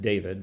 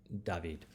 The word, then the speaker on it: David: painter jacques louis david spelled just like david but in french it's david and uh this is